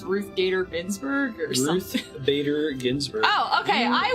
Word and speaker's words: Ruth Bader Ginsburg: too easy for me ask me to just pronounce the Supreme Court justice lady from ribs it's Ruth Bader Ginsburg Bader Ginsburg oh okay I was I believe